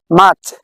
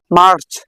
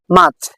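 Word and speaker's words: March: মাচ আমরা আগে পড়তাম মার্চ। বাট এখন থেকে আমরা পড়ব মাচ। আমরা এই আরটি উচ্চারণ করবো না।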